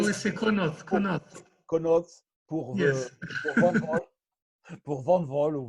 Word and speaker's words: Connaught: Connaught, c'est prononcé à l'anglais. Oui, c'est Connaught.